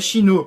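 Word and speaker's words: 死ぬ: Há uma conotação entre a pronúncia do número quatro, uma delas é xi, e a palavra morte, que se pronuncia xinu.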